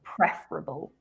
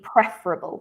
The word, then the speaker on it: preferable: it's an adjective the stress is on the first syllable so preferable i think it would be i can't remember what you said but it would be preferable so we stressed the first uh syllable of that word but um apart from